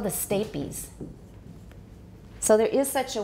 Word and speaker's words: stapes: Because if you see A plus a silent E at the end, you know it's pronounced like the name of the letter A.